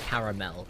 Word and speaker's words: caramel: glad that you say caramel cuz the Sony Americans I've heard that Go caramel like no there is an extra syllable you are missing there sir well that's the